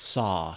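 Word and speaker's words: Saa: Is that how it's pronounced? Saw? Saw, S-A-A.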